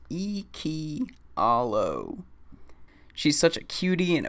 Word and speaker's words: Iikyallo: original character with you her name is akia allo pronounced iki hallo she's such a cutie